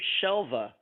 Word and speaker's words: Shelva: And I like to tell the story about Shelva's name because a lot of people pronounce it Shelva with a B, and it is Shelva.